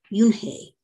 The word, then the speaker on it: Unhei: her name which is spelled u-n-h-e-i and is pronounced junhei so she assumes she needs to get a